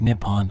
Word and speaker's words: Nippon: Japanese is written using the kanji and is pronounced Nippon or Neon before it was adopted in the